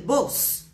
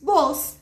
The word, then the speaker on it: vos: Já escutou falar alguma vez em el uso del vos? Isso mesmo, VOS. Já lembramos aí a pronúncia do V, né? Que tem um leve sonzinho de B.